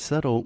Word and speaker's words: subtle: would you translate yeah we write subtle with a B s-u-b-t-l-e that looks like super diddly but we say subtle yeah crazy I think